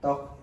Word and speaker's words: tteok: Tok itu kan TTEOK itu arti bacanya tok. Jadi T-nya cuma dibaca satu, jangan dua-duanya.